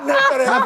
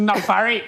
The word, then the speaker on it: Nafari: It's not Nefere. Yes. Let me help you guys. The right pronunciation is Nafari.